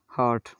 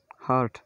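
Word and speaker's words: heart: ई ए का उच्चारण ये किसी अपवाद स्वरूप एक वर्ड है हार्ट, हार्ट, एच ई ए आर टी का उच्चारण। यहाँ ई ए का उच्चारण आ हुआ, ये एक अपवाद है, हार्ट, हृदय, हार्ट।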